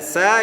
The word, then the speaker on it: ச: இந்த ச என்பதை நாம் குழந்தைகளுக்கு எவ்வாறு கற்றுக் கொடுக்கிறோம்? சா சா அப்படி சொல்கிறோம். அது தவறு. ச சா என்பதுதான் சரியானதாக உச்சரிப்பாக இருக்கும்.